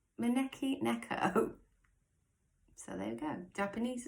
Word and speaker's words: maneki neko: to be really bad justice in how i pronounce this this is called the monaco necky i got that right maneki neko so there you go japanese as well so